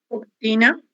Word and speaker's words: cortina: Cortina. Isso. Cortina. Exatamente. Cortina. A gente escreve com a letra O, mas normalmente nós pronunciamos como se fosse o cortina.